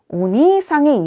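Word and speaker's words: お兄さん: 여러분, 이때 온니상의 일을 장음으로 발음하지 않으면 온니는 도깨비가 돼요. 그래서 도깨비 님 이게 되기 때문에 반드시 온니상 장음 신경 쓰셔서 발음해 주세요.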